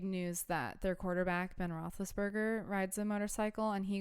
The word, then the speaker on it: Roethlisberger: Roethlisberger.